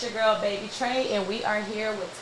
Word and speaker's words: Baby Tra: is Taylor hi Taylor baby Trey that's how you pronounce it right yes baby Trey not baby try weird come on now